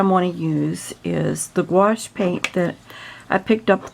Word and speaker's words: gouache: how to say it just think of the word squash and it rhymes with that so it's gouache that's the best way